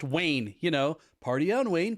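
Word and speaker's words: Wein: how they spell it w-e-i-n pronounced wayne you know party on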